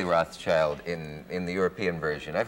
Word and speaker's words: Rothschild: I've heard people who know them, family, say Rothschild Depends. If you're German, you say Rothschild, and if you are if you refer to the French branch, it's de Rothschild.